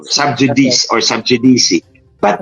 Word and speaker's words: sub judice: mga kababayan natut subj sub judice o sub judice or sub jdc but it's a latin word J in Latin is pronounced y and when c is in Between Two vowels It's so it's pronounced